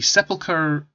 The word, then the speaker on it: sepulchre: weapons the sepulchres sorry this is a tricky one the sepulcher it's because of how it's spelled sepulcher scepter thank you has